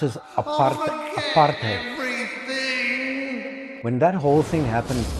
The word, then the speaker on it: apartheid: When the whole apartheid, we pronounce it apartheid.